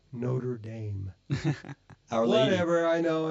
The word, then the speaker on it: Notre Dame: boys yeah yeah yeah it's like Notre Dame Cathedral excuse me notam if you actually speak French but no no no we need to call it Notre Dame our lady whatever I